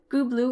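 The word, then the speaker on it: Gubla: named it bias footnote goblu or gubli is the pronunciation indicated for this name in the tel L Amara tablets the Egyptians transcribed it kpuna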